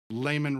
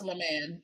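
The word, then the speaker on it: Lamman: I will say his name is pronounced LeMan. Is it say that LeMan? Yes. Yeah. Terrible at names, but no, but phonetically it looks like Layman Rucker. Like I'm just saying, his name is LeMan Rucker.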